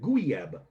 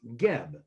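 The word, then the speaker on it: Guieb: spelled gu I EB it looks like gub but it's pronounced GB and they have great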